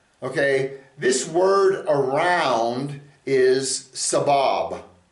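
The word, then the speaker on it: סבב: Okay, this word around is sabab. It's spelled samek bet bet.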